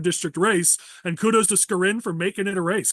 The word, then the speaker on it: Skarin: So it's Skarin, not Skarin.